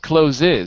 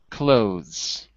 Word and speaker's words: clothes: monitoring the health doing by the way one syllable not cloes but just clothes close that's right so